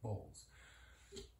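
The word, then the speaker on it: bols: So now we're gonna take a look at bowls. Bowls, spelled B-O-L-S, are the onomatopoetic syllables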